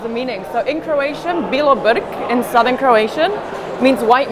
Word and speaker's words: Bilobrk: Can you pronounce your last name for me so I say it properly? It's Bilobrk.